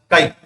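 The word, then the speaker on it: χ: This X type, but it is pronounced as what is the chi. This is what this one. Right. Then this is what chi. Now this what is the chi is a constant. That is pronounced as what it is pronounced as chi, and this is nothing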